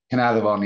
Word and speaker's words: Caernarfon: And then I think I'm going to mispronounce this, like Caernarfon? Caernarfon, yeah. That's very good, yeah. Caernarfon, yeah. Okay. In the Welsh dictionary, an F is a V. Okay.